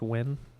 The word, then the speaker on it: Nguyen: Article June 16, 2023 by Andy Nguyen. Pronounced win.